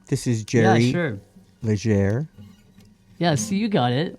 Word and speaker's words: Leger: Leger. Yeah, so you got it. Well, yeah, I know. I was reminded. I was told. Yeah, to do yeah, it, so. yeah. Yeah, you just gotta pronounce that R.